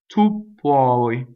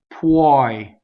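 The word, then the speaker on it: poi: Ppuɔi. So it's ppuɔi. Open O. It does not rhyme with boy. I hear all the time ppuɔi, right?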